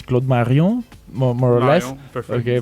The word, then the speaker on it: Claude Marion: Okay, you understand from the name that it's we have to pronounce it in French. It's Claude Marion.